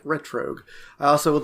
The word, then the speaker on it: Retrogue: plug yeah team retr it's spelled as if you combine retro like retro game with Rogue is in Rogue like ret Rogue I also would like